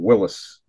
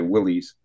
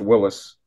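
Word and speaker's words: Willys: I think it's called Willis pronounced w i l l Ys I used to say Willies but I think it's Willis um dealership in um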